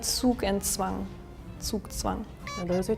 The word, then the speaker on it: Zugzwang: Can you pronounce this one for us? Zugzwang. Zugzwang.